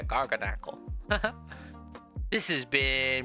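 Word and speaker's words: Garganacl: Garnackle or Garganackle. Yeah, Garganackle.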